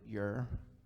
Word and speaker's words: Ur: of Ur you are some people pronounce that your I think it's properly pronounced her who do we know